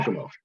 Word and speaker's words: Giacomo: How do I pronounce that again? Giacomo.